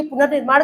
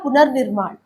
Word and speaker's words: पुनर्निर्माण: तो ये र जो हलंत वाला र है इसको हमने पुनर यानी पुनर्निर्माण। कहने उच्चारण के दौरान जब यहां पे पुनर के बाद जो अगला व्यंजन आ रहा है वो र की मात्रा उसी पे चढ़ जाता है। तो ये हो गया पुनर्निर्माण पुनर्विवाह पुनर्जन्म।